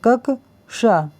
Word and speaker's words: क्ष: तो जैसा कि मैंने बताया था कि जो क्ष है इसको ये किससे मिलकर बना हुआ है, का और षटकोण वाले शा से। यदि इसको इंग्लिश में भी लिखते हैं तो इसकी स्पेलिंग होती है KAKSH, ये होती है। तो इसको जब हम पढ़ेंगे तो कक, ये पढ़ेंगे कक शा, ये ए भी होती है ना, तो कक शा इसको पढ़ेंगे।